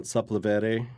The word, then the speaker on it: Sepulveda: I was actually walking down Sepulveda, is how you say it, Sepulveda Boulevard.